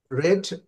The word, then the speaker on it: read: ওকে, Jack রেড আ বুক yesterday, এখানে কিন্তু রেড হবে। হ্যাঁ, রিডের পাস্ট টেন্স, বানানটা একই, উচ্চারণটা হবে রেড।